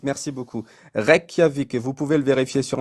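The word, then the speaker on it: Reykjavík: plus lointaine qui a été menée c'était à Rejavic je excusez-moi. C'était en Islande au 17e siècle. Oui. C'était ça se prononce comment ça se dit ? R Kiavic. Requiavic. Merci beaucoup. Requiavic.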